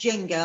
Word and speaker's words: JENGbA: a Facebook page called Jengba. That's right. Yeah, Jengba, which is Jenga. Joint Enterprise, Not Guilty by Association. Yeah, I think it's pronounced Jenga. I think the B's silent.